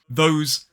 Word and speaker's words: those: has the unvoiced sound those has the voiced sound now let's look at